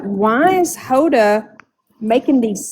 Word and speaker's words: Hoda: more real than Honda's because I've noticed that Honda she was really um smiling through the whole thing. I just don't think Hoda.